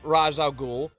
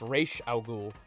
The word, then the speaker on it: Ra's al Ghul: He actually voiced Ra's al Ghul in the Batman Begins video game.